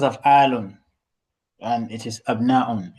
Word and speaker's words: أبناء: it Abnaun or Abna'u? Yes, أبناء, because it's not in the pattern of أفعلة.